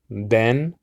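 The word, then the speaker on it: בן: welcome okay also uh Ben which means uh son Bane I believe is Bane in in Biblical Hebrew and so um that's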